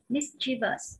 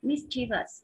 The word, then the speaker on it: mischievous: Còn D thì chúng ta đọc là mischievous, mischievous, miss, miss, âm I.